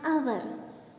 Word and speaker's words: hour: Then an hour. Here also H is silent.